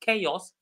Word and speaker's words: chaos: For example, the first word was this one which we said is pronounced chaos though it has ch. So the ch is pronounced as c.